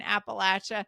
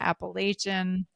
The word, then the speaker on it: Appalachia: But just mountain culture and Appalachia. Well, tell me this. I've heard various Yeah. various instruction on how to pronounce that word.